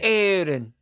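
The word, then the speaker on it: Aeryn: call her aen aen e r y n aen well in in Gaelic it would be like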